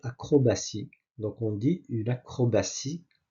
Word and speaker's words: acrobatie: Lequel des mots suivants contient la lettre T prononcée S ? Bien sûr, c'est le C acrobatie.